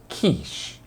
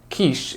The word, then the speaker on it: quiche: vegetables maybe some meat both Niche and quiche are French loan words so that's why we have to follow the French rules when we pronounce these two words it doesn't sound like the word ditch which is a long hole